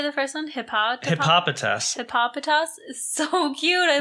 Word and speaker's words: Hippopotas: Hippopotas.